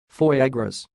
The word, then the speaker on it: foie gras: the word you see it sounds like foyer gross for a gross and